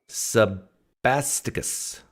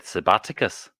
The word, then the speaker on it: Sebasticus: Sebasticus. Is that how you say your name? Finally, you pronounce it right. You're an atheist, right? Last time you said Sabaticus.